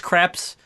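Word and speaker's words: Krieps: I really enjoyed Vicky crepes who plays Alma who her name I'm sure it's crepes but it's it looks like it's spelled crimes Christ I I liked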